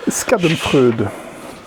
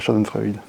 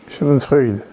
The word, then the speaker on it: Schadenfreude: le phénomène est là scadon FRUD de chez studo turbine Chad Freud on a suffisamment les commentaires qu'on Pr très mal prononcé c'est vrai ouais Shad c'est l'Allemand ok donc shadon freid shadon freid ok voilà on l'a